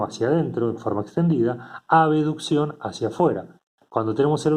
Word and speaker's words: abducción: movimientos es el de abducción a producción acá no está la letra e pero para pronunciarlo diferente se pronuncia aducción y abducción en el sentido del